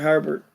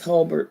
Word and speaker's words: Holbert: But everybody pronounce it Herbert. It's Holbert, but there, yeah.